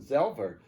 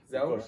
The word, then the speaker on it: Zelver: Zelver, the same pronounced in Poland, Zelver, Zelver?